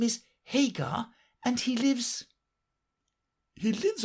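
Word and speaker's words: Haigha: happy his name is hag he pronounced it to rhyme with mayor I love my love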